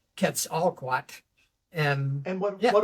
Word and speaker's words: Quetzalcoatl: to be foreign words, but Nahuatl pronunciation of that particular serpent god is Quetzalcoatl. So, Quetzalcoatl. Oh, I love right, that. yeah. So I just sort of Americanized it or westernized it into Quetzalcoatl, and And what yeah.